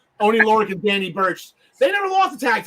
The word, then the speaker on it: Burch: See, I'm so used to saying Lorcan and Birch or Borkin and Lurch because of John Smith, and I just said it right, and I thought I said it wrong.